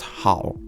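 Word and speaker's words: 好: is in reference to the Chinese spelling of good pronounced how how is commonly used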